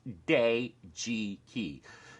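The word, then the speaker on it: Dejiki: now I know it's pronounced day Jiki it's spelled de ji ki and is run by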